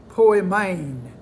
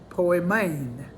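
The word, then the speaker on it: poimen: got another five minutes or so number three poi main p-o-i-m-e-n poi main it is translated pastor p-a-s-t-o-r or translated shepherd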